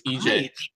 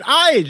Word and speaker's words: Ige: But it's EJ. Who would pronounce it Ige, Zane?